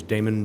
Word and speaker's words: Damon: hello good afternoon everyone um my name is damon can you spell that d-a-m-o-n and i work at station 85.